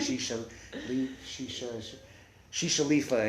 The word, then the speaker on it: Shishaleafa: her head but she wanted it to rhyme with Whiz Khalifa so she's like she she she shifa and she and then